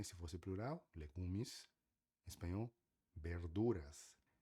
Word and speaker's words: verduras: Espanhol, verduras. Lembre-se que V sempre tem um som de B, por isso que a gente fala verduras, tá bom?